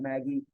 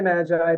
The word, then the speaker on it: MAGI: a discussion as to how we pronounce that acronym some people call it Maggie some people say Magi I'm gonna say Magi but that basically means